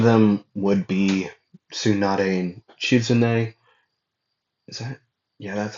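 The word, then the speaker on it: Shizune: Uh, in front of them would be Tsunade and Chizune.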